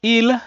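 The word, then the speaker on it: ils: In terms of pronunciation, there's no difference between the singular and the plural. So this is il, meaning he, and this is also il, meaning they, who are male.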